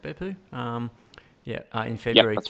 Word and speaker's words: Beppu: 2013, a couple of races over there in Japan, starting off in Beppu. Is that how it's pronounced, Beppu?